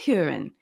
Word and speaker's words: Hueren: this conversation today I'm glad to welcome hurin is a manager and strategy consultant for